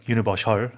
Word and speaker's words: universal: Like Universal. Studio. 그러니까요. Exactly, 네네 yeah. 그런 것처럼. 근데 이제 참고로 우리말에서는 뭐 그렇게 쓰더라도 영어에서는 이제 슈 발음이 아니다.